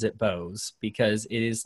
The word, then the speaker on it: Boaz: that he pronounces it bosz because it is like how you spell Boaz in the Bible Yeah right yeah but but apparently he likes it pronounced Bose but yeah the libertarian